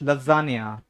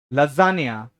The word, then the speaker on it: lasagna: तो प्लीज वहां से प्रोनाउंसिएशन मत सीख करके आना. ठीक है. हाँ. हाँ, the first word is called as लजानिया. लजानिया.